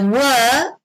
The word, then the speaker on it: were: So here, just to highlight the pronunciation, the were, you actually pronounce it in a very short way.